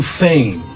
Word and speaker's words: feign: It's to feign. Feign. There's a nasal sound at the end, right? Yeah, a little bit. So feign. The beginning of the word would be like fei in Chinese, like to fly, right?